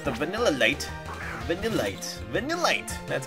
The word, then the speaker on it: Vanillite: coming out with the vanilla light the delight vanillite that's how you say it when you're land